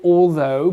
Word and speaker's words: although: Donc, vous allez dire all. Ensuite, vous allez placer la langue sous vos deux dents de devant. The. Et après, vous allez faire le son O. Though.